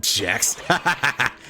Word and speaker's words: Gex: The creator of Gex pronounced it Jex.